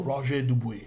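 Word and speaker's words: Roger Dubuis: about it with Tim Roger duby or rer du if we want to pronounce it a little bit more correctly it's a fantastic watch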